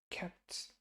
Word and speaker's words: kept: Kept, kept. Okay, and again, this is the pt sound. It's not the most common, but it is this. It's a pretty strong t when you hear kept, kept.